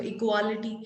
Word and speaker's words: equality: QUA जा रहा है इसका प्रोनाउंसिएशन, तो इक्वालिटी. But that will be incorrect pronunciation and the right pronunciation for this particular word would be इक्वालिटी. इक्वालिटी, वो थोड़ा सा जो साउंड है, ए का आ साउंड ना आके ओ करके साउंड आ रहा है.